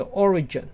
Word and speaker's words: Origin: 很多同学都会念错，重音跑到第二个。注意它的发音是 Origin。